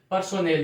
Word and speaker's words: personnel: पर्सोनेल, यानी PERSONNEL, यानी इसमें साथियों आपको इसको हम जो इसका राइट प्रोनाउंसिएशन होता है वो होता है पर्सनल, बट इसको हम किस प्रकार से रिलेट करके याद करेंगे?